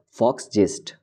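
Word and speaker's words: Volksgeist: It is a German word, so we will pronounce it as Fox jest.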